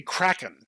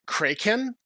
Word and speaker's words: Kraken: It's supposed to be Kraken because he's named for the sea beast, but they decided to like pronounce it Kraken. And so like the entire show they're calling him Kraken, which is like okay, whatever.